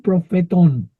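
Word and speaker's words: προφητῶν: T profetón. Tet profetú. Profetón. Tiene acento en la omega.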